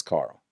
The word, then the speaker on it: Carl: Don't assume it's Quarrel. It's not Quarrel. It's not how the fucking protagonist from The Walking Dead pronounces it. Quarrel. It's Carl.